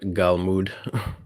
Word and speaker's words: galmud: All right, the word Galmud rhymes with Talmud.